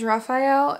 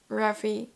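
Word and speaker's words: Raffe: his real name is Raphael and that's why Rafi is supposed to be pronounced as Raphael Raphael um and it's like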